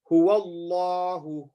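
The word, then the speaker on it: هو الله: We would say, in the first example, we would say Huwallahu, Huwallahu. We don't say Huwallahu. We say Huwallahu. Now Allah is full mouth. Why? Because the letter before has a fatha.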